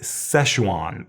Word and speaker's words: Sichuan: This is Sichuan peppercorn. I guess Americans say Szechuan peppercorn.